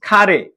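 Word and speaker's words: かれ: नै 18 नम्बरमा हेर्नुस् खारे खारे हिरागानाको का अगाडि आउँदा के उच्चारण हुन्छ खा उच्चारण हुन्छ गुड खारे खारे भनेको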